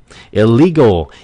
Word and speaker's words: illegal: Nhấn mạnh vào âm tiết thứ hai, "illegal" (bất hợp pháp).